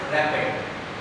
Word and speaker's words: RAPD: It should be pronounced as rapid randomly amplified polymorphic DNA, and this technique is developed by William et al.